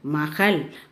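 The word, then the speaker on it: महल: Ma ha in mahal. Mahal means castle. Here the last letter is la. So you should pronounce as il. Ma ha il mahal.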